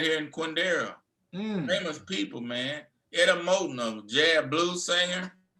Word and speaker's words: Quindaro: It's Quindaro. Yeah, Quindaro. It's spelled Quindaro.